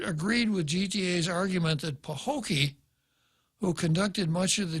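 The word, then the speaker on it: Paholke: a tough one p-a-h-o-l-k-e i suppose he would pronounce it pahokee but i suspect most people would pronounce it like a city on the shores of lake okeechobee in florida ben pahokee from representing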